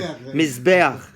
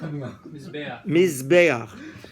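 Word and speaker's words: מזבח: Mizbeach. Pronounce it? Mizbeach.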